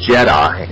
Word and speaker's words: djed: she told me of this thing called the Jed pillar and it's spelled djed it's where the word Jedi comes